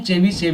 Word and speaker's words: Chebyshev: है चलिए नाम है चेवी सेव इक्वलिटी कभी-कभी हम इसको टी से भी लिखा पाएंगे तो आपको अगर ये टी से लिखा दिखाई पड़े तो आपको टी साइलेंट करके पढ़ना है अलग-अलग किताबों में अलग-अलग